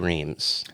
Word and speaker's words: Reams: Schulman Buzzkey Reams.